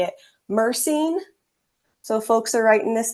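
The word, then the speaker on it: myrcene: insomnia and I'll pause after I say it mercine so folks are writing this down it's spelled m yr c NE linol l i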